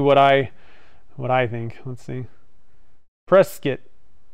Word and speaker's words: Prescott: Prescott, like biscuit. Prescott, okay, cool. Only tourists pronounce it Prescott.